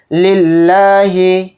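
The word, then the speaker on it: لِلّٰهِ: निकालना है लिल्लाहि लिलाही में जो लफ्ज अल्लाह का लाम है इसको बारीक पढ़ना है मोटा नहीं पढ़ना क्यों क्योंकि इस लफ्ज अल्लाह के लाम से पहले जेर है इसलिए इस लफ्ज अल्लाह के लाम को बारीक पढ़ेंगे अल हमदुलिल्ला रब्बिल आलमीन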